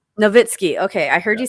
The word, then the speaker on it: Novitzky: mess how do you say your last name novitskiy novitskiy okay i heard you saying on the videos